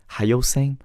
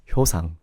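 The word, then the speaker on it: Hyoseung: my Korean name, is the way English speaker would pronounce it is either Hayoseng or Hyoseng. Thing is, my real Korean pronunciation is Hyosang. But Hyosang sounds a little bit different from Hyoseng or Hayoseng.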